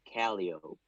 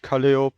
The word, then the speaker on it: Calliope: thing I will never understand pronounce Calliope is caliope I will explain that in a second uh Stefan also said I'm 14. so yeah it's important and uh I made a mistake of uh pronouncing it kaliop uh because of because I just pronounced it in German right France it makes more